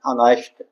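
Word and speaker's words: honest: जो शुद्ध प्रोनाउंसिएशन हमारा है वो ऑनेस्ट, ऑनेस्ट, ठीक है।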